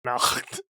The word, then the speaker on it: Nacht: Did you like how in the pronunciation guide, I write phonetically and I just wrote N-A-throat noise? Nacht.